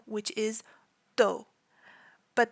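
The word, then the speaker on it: D.O.: last name which is do but the periods make it pronounced d o and so his full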